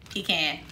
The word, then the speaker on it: pecan: Do you pronounce it pecan or pecan? Pecan.